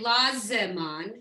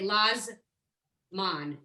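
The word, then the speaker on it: לזמן: But here we don't say Lazeman, we just say Lazman. It's almost like to give it that extra syllable.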